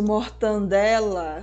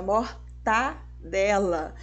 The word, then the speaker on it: mortadela: no lugar de caranguejo e o famoso mortandela Nossa não pode é mortadela ou prazeiroso no lugar